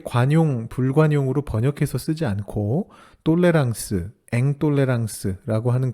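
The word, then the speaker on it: tolérance: 아멘 철학 용어 중에 똘레랑스와 앵똘레랑스라고 하는 단어가 있습니다 좀 익숙하지는 않으실 수 있는데요 영어의 톨루런스와 인톨로런스를 불어 발음으로 발음한 것입니다 우리말로 번역한다면 관용과 불관용이라고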